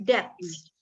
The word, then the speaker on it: depths: The ship sank slowly to the depths. Jadi bacanya depths, ada S-nya.